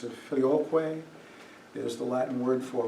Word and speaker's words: Filioque: Filioque is the way that most people pronounce it. Filioque is the Latin word for with the Son.